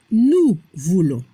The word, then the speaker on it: nous voulons: La prononciación nous voulons. La combinación ON se pronuncia on como un sonido nasal. Y la S al final no se pronuncia.